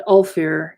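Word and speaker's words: Ulfar: god of fidelity and all fair is the god of fools u LF our accent on the you alright the frolicking bear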